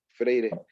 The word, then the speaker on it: Freire: web en donde dice que la crítica este freire pronunciado freire este bueno a freire en este sentido de